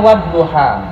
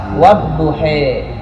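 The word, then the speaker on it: والضحى: Imam Hafs membacanya wadduha. Tapi Imam Waras wadduhe.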